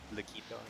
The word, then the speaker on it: Laquito: Laquito? That's it, Laquito, yeah. Laquito, yeah. It's like taquito, but Laquito.